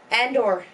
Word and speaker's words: Andor: Is it Indoor? Andor. Andor, you dick! Andor! Don't say it like a foreigner!